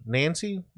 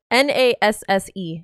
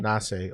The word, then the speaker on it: Nasse: Nancy? It's Nasse. How you pronounce Nasse? Nasse.